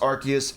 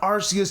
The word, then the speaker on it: Arceus: Yes, it is pronounced Arceus, it is done so in the promotional material, in the anime, everywhere else. It is not Arceus just because of the pronunciation of it in Japan.